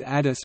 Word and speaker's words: ades: They greet each other with adis pronounced Adis.